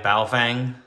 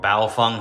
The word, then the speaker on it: Baofeng: We're just using a little Triband RM5 Baofeng, or Baofeng, however you want to pronounce it.